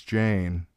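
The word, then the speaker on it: Jeyne: Her name is Jane. It rhymes with pain."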